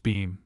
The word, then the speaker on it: Bingham: Maul, otherwise the honorable Mary Bingham pronounced Beam of the neighboring estate,